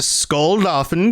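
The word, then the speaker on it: Skuldafn: So, you've got to battle through Skull Doin Temple. Did I say that right? Yeah. No, that that pronunciation was spot on.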